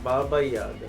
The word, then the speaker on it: Baba Yaga: Did I say it right? Baba Yaga? Baba Yaga. Baba Yaga. I like it.